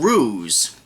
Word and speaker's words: Roos: tell you right there the Ooze written by Stephen Roos funny that it Rhymes uh but anyway this